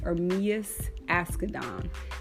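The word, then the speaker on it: Ermias Asghedom: research and I wanted to understand how to pronounce his his birth name his birth name is armius ask Adan and it means God will rise so I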